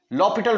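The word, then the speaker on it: L'Hôpital: लॉ पिटल rule apply L हॉस्पिटल rule लॉ पिटल rule पढ़ते हैं spelling इसके हॉस्पिटल वाले हैं ये रूल क्या है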